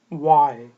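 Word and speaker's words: why: वाई वाई वाई बोलें वाई। एच जो है वो ऑलमोस्ट साइलेंट है।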